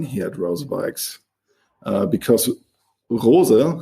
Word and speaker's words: Rose: Another quite important thing I would say is the family feeling here at Rosebikes, uh, because Rosa, how you say it in German, uh, is still a German family name.